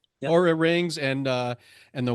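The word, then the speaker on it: Oura: Um so how do you see technologies like the URA rings? Is that how you pronounce it? URA. ARA. Uhhuh. Aura rings and uh and the watch bill optimization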